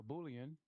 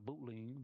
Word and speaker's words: boolean: Make it a boolean. I used to call it a bootling, but it's a boolean.